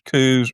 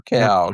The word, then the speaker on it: Coues: Now, it depending on where you are, it they're either pronounced as coups or cows.